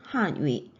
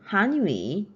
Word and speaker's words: 汉语: 사성으로 발음을 해야지 중국어라는 한위 표현이 됩니다. 만약에 한을 이성으로 발음을 하게 되면은 한위 우리말인 한국어가 됩니다.